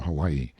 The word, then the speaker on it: Hawaii: seven section eight of mark twain's letters from hawaii this librivox recording is in the public domain